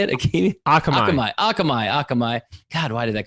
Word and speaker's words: Akamai: he was the co-founder of a company called akimi akimi is that how you say it akamai akamai god why did that come off right